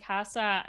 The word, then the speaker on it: Kassa: really appreciate it and Casa is that correct you me pronouncing your name yeah Casa mi casa su casa you know all right